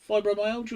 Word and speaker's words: fibromyalgia: chronic fatigue syndrome and fibromyalgia fibromyalgia fibromyalgia is how you say it yeah which is as